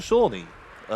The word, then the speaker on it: Shawnee: It's Magical Shawnee. Sounds like Sean as in bean.